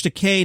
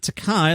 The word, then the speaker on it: Takei: william shatner george said my name is george takei not takai like you've insisted on pronouncing it for the last 40 years remember to k like